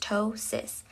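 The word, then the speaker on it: ptosis: The next term is tosis pronounced tois.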